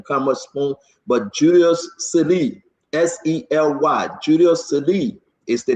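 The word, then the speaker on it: Sele: Now you know, S-E-L-E, S-E-L-E, S-E-L-E, Sely. We will put his picture up, Julius Sely. Sely, pronounce it S-E-L-E.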